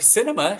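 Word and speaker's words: Sinema: her name for Arizona cinema cinema no that's not how you say it is it that's her name Cinema yeah like the movies that's how you said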